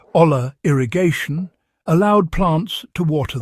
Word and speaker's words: olla: This ancient system known as the Ola, pronounced oya, might just be the droughtproof secret your modern garden needs.